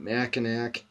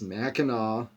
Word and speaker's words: Mackinac: the name is pronounced it's not mackinac it's mackinaw that's you know how